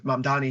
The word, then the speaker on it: Mamdani: If it's Trump, what he's doing at the national level, or even something like what's happening in the city with Mamdani here in New York, pronounced it right that time, Victor.